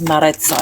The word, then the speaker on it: Maritza: Yes, Maritza. You're actually pronouncing it properly.